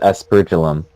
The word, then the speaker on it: aspergillum: it is pronounced aspergillum.